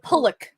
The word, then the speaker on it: Pulock: It's Pulock, right? It's Pulock. Yeah, no, he actually said it someone asked in an interview how to correctly pronounce his name, and it's Pulock.